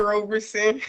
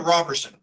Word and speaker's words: Roberson: and is it Roberson or Robertson? Roberson. Roberson. You had it right the first time, Your Honor.